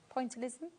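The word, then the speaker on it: pointillism: Pointalism. That's how you say it.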